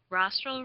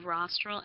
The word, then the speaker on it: rostral: which direction is rostral rostral rhymes with nostril and rostral is the